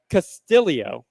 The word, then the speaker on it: Castillo: Ricky Castillio is how this is apparently announced. Castillo with two L's. But it's I'm glad you're keeping it short. Yeah. PGA Tour. Castillio.